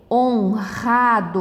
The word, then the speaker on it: honrado: consoante e aqui também percebeu que ele fica forte também honrado a gente fala um orado não fala desregulado não o r no meio